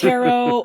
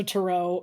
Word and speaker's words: tarot: wrong all these years it's tarot but it's also tarot it's just a matter of where you put the inflection i know i get